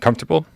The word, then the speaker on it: comfortable: started the show that you're not one of these people that pronounces all four syllables and comfortable yeah I got corrected on this a couple weeks ago they were like it's comfortable yeah no